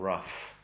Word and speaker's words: rough: But then dough and rough. Very confusing with the O-U-G-H in English. If the O-U vowel is short, O or then the GH is pronounced as an F.